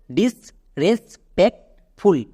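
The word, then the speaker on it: disrespectful: তাহলে একসঙ্গে উচ্চারণ করো, ডিস রেস প্যাক্ট ফুল, ডিস রেস প্যাক্ট ফুল।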